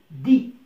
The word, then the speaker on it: dis: tu dis، tu dis.